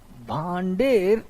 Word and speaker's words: भांडेर: Bundelkhand, number 3 भांडेर, देखो नाम spelling, भांडेर ऐसे कहते हैं, भांडेर प्लेट्यू।